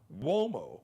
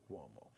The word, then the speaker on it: Uomo: Mario Uomo sounds like Uomo will be spelled with a W-O, but it's an Italian surname, so it's Mario, M-A-R-I-O, Uomo. Uomo is U like umbrella, O like Oprah, M like Mary, O like opera, Mario Uomo.